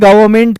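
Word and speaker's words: government: होती है ना सरकार उसको इंग्लिश में गवर्नमेंट कहते हैं ये एन साइलेंट होता है लेकिन इस एन को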